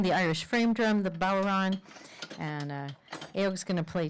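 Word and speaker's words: bodhrán: there I'm playing the Irish frame drum the balron and uh Eric's gonna play tin whistles on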